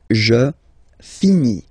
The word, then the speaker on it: finis: Remember, final S is not pronounced. Je finis. Okay? Tu finis. So ES as well, like we had for je. So same way to pronounce it as well. You don't pronounce the final S. Tu finis.